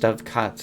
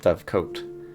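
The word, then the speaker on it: dovecote: Uh, which is apparently pronounced dove cut and like not dove coat.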